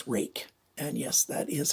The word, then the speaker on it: Ruike: On this side, it just says Ruike. And yes, that is how you pronounce it, because they told me how it's pronounced.